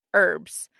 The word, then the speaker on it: herbs: It does say in the US the H is silent.